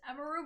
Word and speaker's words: Emiru: most people say, people call me Emmy, but it's Emiru, but I don't mind if people call me Emiru.